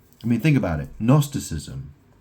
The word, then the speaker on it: Gnosticism: Gnosticism. How do you say that? How do you spell that? That's spelled G N O S. The G is silent, right?